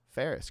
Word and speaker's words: Farris: it on Tennessee and Tennessee education uh Ferris correct yeah dude like Ferris Muer yes I